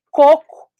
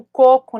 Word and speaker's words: coco: exemplo que eu adoro Como você sabe que a diferença de côco e cocô E como que você vai pedir um coco na praia e não cocô o seu assento né E também é a sílaba tônica né então você vai